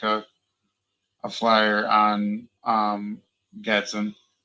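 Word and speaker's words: Gadsden: Um Olive and Gatson. Gad Gat Gatson, whatever. How do you say it? I would consider Gadson.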